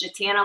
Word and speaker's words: Jatana: And she says Jatana like banana.